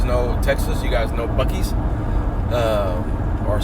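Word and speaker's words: Buc-ee's: Texas you guys know bies um or some people like to pronounce it buis but the correct pronunciation is going to be bies uh and no it's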